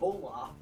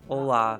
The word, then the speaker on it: Olaf: It's not even It's Olaf, Olaf. not Olaf. Whatever. Say it like Zoloft. But it's the same company, so they already have Olaf.